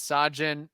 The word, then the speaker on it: Sajin: Sajin says, "Hi guys, this is Sajin. My name is pronounced like Taj Bradley, but instead Sajin, like the drink."